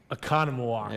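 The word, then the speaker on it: Oconomowoc: You're going to give me what we hope is the correct pronunciation. Gotcha. Are you ready? Yeah. Here's an easy one. Economawalk.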